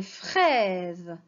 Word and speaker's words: fraises: Des fraises. Regardez bien, la lettre S, elle est entre deux voyelles. Je la prononce Z.